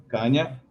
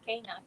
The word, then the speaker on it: Cana: Please send your questions for Kanya. I say it wrong. It's okay. Eh, Cana, Kanya. Kanya.